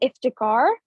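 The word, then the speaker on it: Iftikhar: name is so um my name is iftagar and it's pronounced as like and iftakar um so yeah okay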